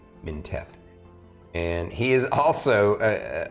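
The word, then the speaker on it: Mintheth: then minteth is m-i-n-t-h-e-t-h basically that one of the H's is silent they're minteth and he is also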